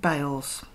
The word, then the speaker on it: Beale's: is on beale's corner local people pronounce it bales it was the bridge